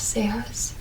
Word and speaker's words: cejas: And the J is always pronounced as an H.